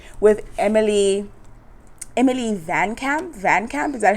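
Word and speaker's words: VanCamp: show called Revenge with Emily Emily Van Camp Van Camp is that how you say it yes there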